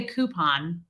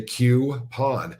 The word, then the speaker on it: coupon: wasn't a street C I say coupon it drives me nuts when people say qon okay see that oh